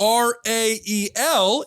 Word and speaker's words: Rael: R-A-E-L is the name of the prophet, Rael. And he got his name because Rael is the second syllable of Israel, Ryan.